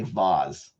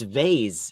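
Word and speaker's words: vase: and you also say vas but for anyone who says vas I'm talking to you wait a minute it's vay it's a z I know it's spelled with an S some people say vas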